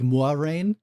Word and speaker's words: Moiraine: Officially, it's sort of pronounced the French way, but not quite. It's like Moiraine.